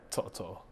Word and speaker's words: To'oTo'o: do you say your last name just generally Toto so I have like three middle names it yes are my middle names so they don't but they say Toto yeah but you're saying Toto I I I